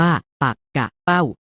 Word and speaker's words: ปักเป้า: ชื่อ ว่า ชนิด หนึ่ง ปักเป้า อ่าน ว่า ปัก กะ เป้า หมาย ถึง ชื่อ ปลา